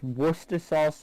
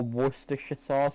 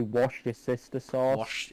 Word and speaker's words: Worcestershire: washington washing sister sauces i have had a bunch of southern americans say yeah i i thought it was just worcester sauce no it's worcester sauce or worcestershire sauce fair enough for some reason americans say washed your sister sauce washed your sister stores